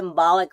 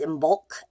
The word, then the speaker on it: Imbolc: I always call it Imbolc, but it's Imbolc, actually, I believe.